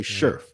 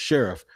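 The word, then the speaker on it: Scherff: so brandon sheriff and i used to say sherf but it is pronounced sheriff the all-pro guard from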